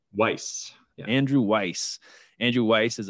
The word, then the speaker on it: Weiss: andrew how do you say your last name weiss andrew weiss andrew weiss is a public speaker